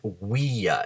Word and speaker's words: via: Via, viae, meaning street, and today we use via a lot of times. Now notice I pronounced it via instead of via in the Latin. It's because V's should be pronounced as W's.